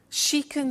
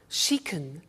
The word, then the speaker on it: can: can play the piano she can speak spanish now notice the pronunciation of can becomes kun she can she can speak spanish